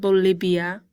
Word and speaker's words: Bolivia: Bolivia, remember the B, the V makes a B sound, Bolivia.